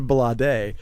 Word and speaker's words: Blade: He's Sade's son, so his name is pronounced Balade.